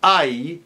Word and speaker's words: ay: Now, when the Y is at the end of a syllable, as in ay or caimán, then it's a different story. That's an I sound. As in the word hoy, today, or I, like when you complain, ay.